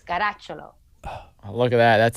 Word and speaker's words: Caracciolo: Alessia If you want to say it the real Italian way, it's Caracciolo.